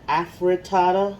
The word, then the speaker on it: afritada: time it's called chicken afritada like almost like african but with aphro tata